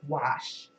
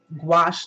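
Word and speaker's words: gouache: interrupted left and right I also heard wash wash like rhymes with squash so I don't know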